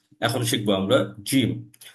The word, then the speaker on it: جيم: সাধারণত জয়ের মতো উচ্চারণ হয়, বাংলা যে বর্গ জ, এই জয়ের মতো উচ্চারণটা হবে।